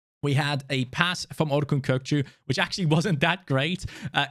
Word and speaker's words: Orkun Kökçü: Please don't listen to anyone else that pronounces his name completely wrong. It's Orkun Kökçü. All right? That's how you pronounce his name. I've heard Kokus and everything. That's not his name.